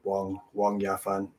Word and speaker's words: Wang Yafan: So that's just, but I'm not a Chinese speaker, but yeah, that's, yeah, I think they say it like that, like Wong Yafan.